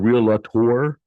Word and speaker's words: realtor: By the way, it's not realtor, it's realtor. So if your real estate agent pronounces a realtor, You got one up on them now. You say, no, there's two syllables, not three. Okay.